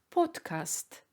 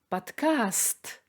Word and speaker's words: подкаст: «о» и произносится как «подкаст», а в русском языке ударение падает на «а» – «подкаст».